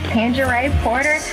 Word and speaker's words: Tanjarae Porter: As you have heard my name is Tanjarae Porter, spelled exactly like it's pronounced.